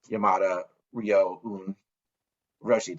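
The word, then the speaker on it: Yamada Ryōun Roshi: the abbot of the organization, which is now Yamada Ryoun Roshi. Did I pronounce that right?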